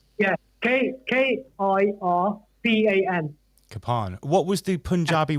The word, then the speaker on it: kirpan: That's a kirpan. Yeah. Kirpan. Kafan, right. Yeah. Kirpan.